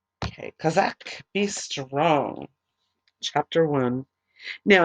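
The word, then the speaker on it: chazak: you're gonna hear it it's called Chizik and actually it is spelled ste h a Z a K and it means be strong or Kazak okay Kazak be strong chapter one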